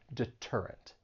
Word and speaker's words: deterrent: a stressed syllable so when the t comes at the beginning of a stress syllable then you're going to say it as a true T and not a flap T and that is why